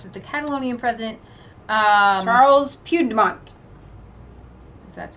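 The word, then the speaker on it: Puigdemont: news wire reports with the Catalonian president Charles Pugh de menthe that's how you say it has drafted a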